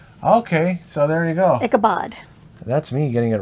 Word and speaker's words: Ichabod: I have one card, so Ichabod. What are you looking up? If it's Ichabod or Ichabod. I don't know. Yeah, Ichabod. Bod. Bod. B-O-D. Okay, so there you go. Ichabod.